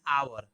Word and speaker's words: hour: An hour. H is silent here.